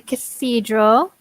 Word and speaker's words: cathedral: Hotel good excellent the cathedral and we have a very difficult yeah very difficult th so the cathedral with your tongue between your teeth Cathedral seed rock kids